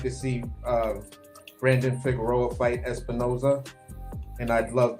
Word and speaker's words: Figueroa: That's pronounc Figareroa. Oh, Figueroa.